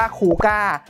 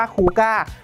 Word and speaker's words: Coocaa: โลโก้ แบรนด์ สกรีน ว่า C Double O C Double A อ่าน ว่า ครู ก้า ย้ำ อีก ที นะ ครับ อ่าน ว่า ครู ก้า ซึ่ง ไม่ ใช่ ลูก